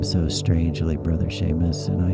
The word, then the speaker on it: Seamus: whatever the case in the Gaelic language s e and Si are pronounced the same as an uh an American English sh so you'll typically see